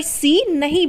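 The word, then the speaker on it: scene: बोला जा रहा है उसी तरीके से सीन सीन यानी दृश्य तो सीन में भी सी ए करता है लेकिन यहां पर भी सी को नहीं बोला जा रहा यानी की सी यहां पर साइलेंट है यह जैसे सेंट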